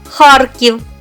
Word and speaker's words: Харків: свої норми твердості так в кінці складу принципова літера р ніколи не потерпить в своєму сусідстві м'який знак за винятком прізвища голький отже і звучить Вона завжди твердо запам'ятайте вимову нашого міста Харків та похідні від нього